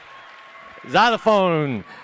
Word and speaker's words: xylophone: Xylophone. Xylophone is spelled an X. That's wrong, man. Xylophone is X. I don't fucking see it. It should be a Z up front, you know?